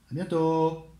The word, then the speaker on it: à bientôt: A bientôt. And once again, the T, you do not pronounce it. So it means see you soon. A bientôt.